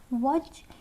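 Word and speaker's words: watch: सी एच ई एन एल ई अगर साथ हो तो टी हमारा साइलेंट होता है। वॉच यहां पे हमारा टी एच साथ में है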